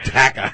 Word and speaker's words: Dakka: That is pronounced Dakka.